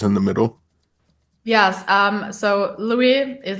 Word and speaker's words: Luiii: market more catchy than Louise Grossman. What you have to ask how to pronounce it, and so it's just Louis, and it's more easy.